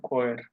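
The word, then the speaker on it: Chor: শয়ের খয়ের, খয়ের মানে হলো গানের দল, দাস খয়ের, খয়ের উচ্চারণ হলো খয়ের, দা খয়ের, লে খয়ের ফ্রান্সোজিস, আর হলো ডিয়ার খয়ের, গানের দল বোঝায়।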